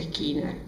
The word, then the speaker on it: Skinner: O sea, estamos hablando de otros de estos representantes que Skinner o Skinner, por lo general se pronuncia Skinner.